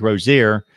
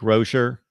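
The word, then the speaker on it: Rosier: of the season because I'm so used to saying Malik Rozier that I'm trying to say Rocher Malik Rocher and so I'm gonna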